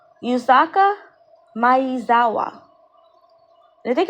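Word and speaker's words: Yusaku Maezawa: And this guy here that you're looking at, his name is his name is pronounced Yuzaka Mayawa.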